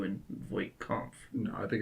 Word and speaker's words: Voight-Kampff: So when he goes to visit Tyrell, he performs a Voight-Kampff. Okay, I want to make sure I'm saying it correctly. So when he goes to visit Tyrell, he performs a Voight-Kampff.